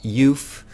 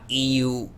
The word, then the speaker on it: EUPH: it with them and it is pronounced yuth not EU or EU but youth as in Euphoria we had euphoria that